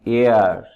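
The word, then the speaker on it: heir: হি হ্যাজ নো এয়ার। এটার উচ্চারণ হেয়ার না, এয়ার।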